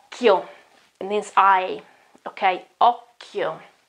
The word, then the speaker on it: occhio: And then I have the H and I, so I won't pronounce that occhio, okay, but we know that the H, okay, in the middle breaks the rule. And the chi gets back to the pronunciation k. And so it is occhio.